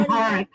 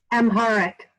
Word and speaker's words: Amharic: also discussing translating into, Beth, how do you pronounce the language? It's Ethiopian. Anybody? Amharic. I'd say that again. Amharic, the major language of Ethiopia.